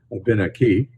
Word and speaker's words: Abenaki: The emphasis is usually on the third syllable from the end, Abenaki, and that's true of most of our Algonquin languages all across the continent.